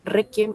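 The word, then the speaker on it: réquiem: Requiem también lleva tilde porque requiem, es una palabra grave. Tiene mayor fuerza de voz en la penúltima sílaba.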